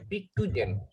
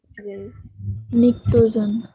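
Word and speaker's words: pnictogen: পিকটুজেন। নিকটোজেন। উচ্চারণটা পি বাদ দিয়ে করতে হবে। এটার নাম হলো নিকটোজেন।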